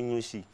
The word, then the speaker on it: Nouchi: Voilà, maintenant, le mot Nouchi, là, c'est sa bonne prononciation qui commence, on dit Nouchi.